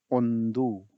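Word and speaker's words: ಒಂದು: और इसको बोलते क्या है कन्नड़ा में, इसको बोलते हैं ओंदू। ONDU। सो आप स्पेलिंग फॉलो करिए इंग्लिश की।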